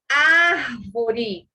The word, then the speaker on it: árvore: Por exemplo, árvore. Percebam, o ré é a última, o vó é a penúltima e o ar, antepenúltima, tá?